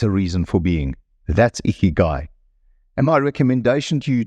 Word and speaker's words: ikigai: And thank you, Keanu, again for helping me on the pronunciation of that Japanese word. Ikigai.